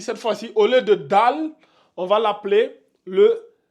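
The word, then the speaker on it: دال: point ben celle-là on va l'appeler le le DAL dal comme ça d ça c'est le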